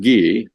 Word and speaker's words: Guy: to end with okay my name is guy which is the american pronunciation of ghee as you point out